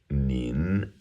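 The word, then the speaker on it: 您: more respectful form of me nin n i n second tone um which you would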